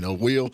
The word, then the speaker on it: Wil: Will. Yeah, W-I-L. well, I couldn't afford the second L, so I just kept it with 1. Hey, I'm with you on that, and it's pronounced the same, So, yeah.